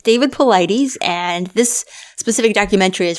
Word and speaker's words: Paulides: It's David Paulides, and this specific documentary is from 2019 for Missing 411, The Hunted, like you said.